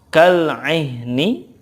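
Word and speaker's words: كالعهن: Kemudian kal-'ihni, ketika waqafnya kal-'ihn. Kal-'ihn.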